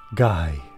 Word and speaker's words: Gyee: we fruit Studios presents guy okay so we know it's pronounced guy now do I like this